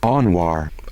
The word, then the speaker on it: Anwar: Well, what is the correct pronunciation of his name? Anwar. Anwar. It's Anwar. Anwar.